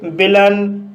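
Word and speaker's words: villain: एन आया है और यहाँ पर AI का उच्चारण आ हुआ, इसलिए इसे सर्टन पढ़ा जाता है। इसी तरह से विलन, विलन शब्द के अंत में AI के बाद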